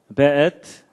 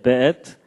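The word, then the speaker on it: וְאֵת: 그 다음에 앳, 하샤마임, 베엣. 요게 이제 W인데도 이게 독일식 발음을 해서 베 이렇게 읽는다고 합니다. 예, 베엣, 하아렛.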